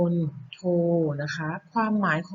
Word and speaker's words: มณโฑ: ต่อ มา นะ คะ คำ ว่า มณโฑ อ่าน ว่า มน โทร นะ คะ ความ หมาย